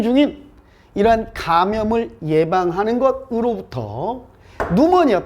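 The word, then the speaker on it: pneumonia: 지금 현재 진행 중인 이러한 감염을 예방하는 것으로부터 누모니아, 피가 묵음입니다.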